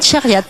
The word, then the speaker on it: Chariat: Alors, moi je voudrais que vous me racontiez l'histoire de quelqu'un, je vais essayer de bien prononcer, qui s'appelle Hamid Chariat. Hamid oui. Chariat.